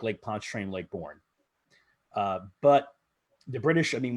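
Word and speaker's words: Lake Borgne: I'll just Lake Bourne, as I understand it. Sean, is that how you pronounce it? Yes, Lake Bourne.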